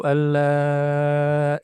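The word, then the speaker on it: أن لا: Jadi dua harakat saja Ini kalau kalau mau dibaca Dua harakat tidak mengapa tapi kalau mau dibaca panjang maka bacanya empat harakat dibaca empat harakat ya Ashadu Alla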